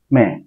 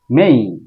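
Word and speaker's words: May: এই প্রল এইপ্রল তারপর আসি মে বলবো না বলবো মেইন কেন মেইন হুম এই সাউন্ড আছে এই সাউন্ড আছে এই মেইন কিন্তু সাউন্ডের উপরে একটা স্ট্রেস চিহ্ন আছে এই স্ট্রেস চিহ্নের কারণে এই জায়গায় আমরা একটা চাপ দিব উপরের দিকে যাব এরকম একটা আওয়াজ হবে মেই মেই মেই মেই মে না বলে আমরা বলবো মেই মে এর পরে আমরা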